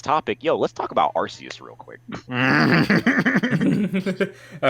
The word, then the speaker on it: Arceus: much brain cells i had to use to pronounce it arceus so that way people won't be confused every